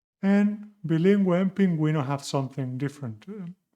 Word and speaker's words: bilingüe: 7. Bilingüe, suena como Gales.